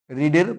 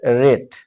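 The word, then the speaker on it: read: past indefinite মানে কি রিডের past form রিডের past form হচ্ছে রেড উচ্চারণটা এরকম হবে আর ই ডি রেড লাল যেমন উচ্চারণ করি রিডের পাস্ট ফর্ম উচ্চারণ হবে রেড ওকে তাহলে কি হচ্ছে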